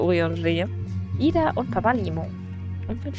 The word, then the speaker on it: Urianger: Er wird übrigens wirklich so ausgesprochen, es hat Ewigkeiten gebraucht, bis ich mir den Namen gemerkt habe. Ich habe immer Urianga gesagt. Er ist aber Urianger.